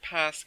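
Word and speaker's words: Pâques: is small pass flowers it's not spelled the same but it's said the same uh pas spel like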